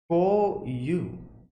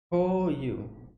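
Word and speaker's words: 項羽: Okay, so his name is pronounced as Ko-yu. Ko-yu.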